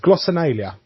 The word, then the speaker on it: glossolalia: I've had to write it down phonetically so I can actually say it. And it's glossolalia, and it's basically a vocal outburst that isn't part of your.